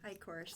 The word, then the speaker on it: Eichorst: Eichorst.